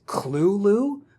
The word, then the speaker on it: Cthulhu: legendary the Call of Cthulhu also I should mention Lovecraft says the correct way to pronounce it is clue Lou which sounds like a